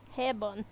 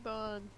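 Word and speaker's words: 平凡: Hairbun. That's how you pronounce it. Hey, Bon.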